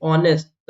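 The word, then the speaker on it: honest: बहुत काम आता है एच आए तो एच साइलेंट होता है साइलेंट होता है यहां पर वही रूल फॉलो होगा एच को नहीं बोलेंगे ऑनेस्ट ऐसे लिखते हैं ऑनेस्ट ठीक है तो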